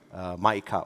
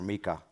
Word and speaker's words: MiCA: in Crypto Assets Act, the famous MiCA or MiCA. Depends on how he wants to pronounce it.